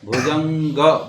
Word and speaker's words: भुजंग: जटा भुजंग जटा भुजंग ग है और उसके नीचे ग है ग है नासिका से करना है नाक से भुजंग भुजंग भुजंग भुजंग भुजंग भुजंग जटा भुजंग